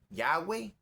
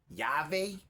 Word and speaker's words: Yahweh: Ahora tenemos un problema que algunos dicen Yahweh, algunos dicen Yahvé, algunos dicen Yahweh. No sabemos por qué, porque los judíos rehusaron pronunciar el nombre, el tetragramotón, y entonces nosotros tenemos que especular.